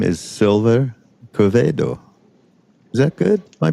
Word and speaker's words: Quevedo: Hi everyone, it's again with Mindrolling, and I'm with a new friend, and his name is Sylver Quevedo. Is that good? My pronunciation on that? Absolutely Quevedo?